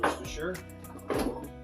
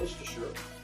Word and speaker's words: Worcestershire: Oh yeah, definitely gonna use some Worcestershire.